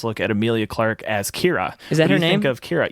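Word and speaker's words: Qi'ra: also our first look at emilia clark as Kyra is that named of Kyra yes it's pronounced Kyra well no I mean the actress is named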